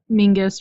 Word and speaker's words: Mingus: Scottish clan pronounced yeah Mingus rhymes with sing sing is so Mingus